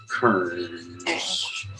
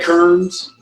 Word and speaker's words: Kearns: rochester new york sabrina kern did i pronounce that right kearns yeah that word no it's